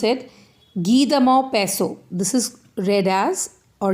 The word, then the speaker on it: Guy de Maupassant: Guy de Maupassant. This is read as, or you can say pronounced as, Guy de Maupassant.